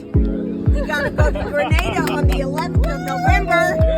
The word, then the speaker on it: Grenada: First, the only one we have Grenada. We're going to pronounce it with a long A.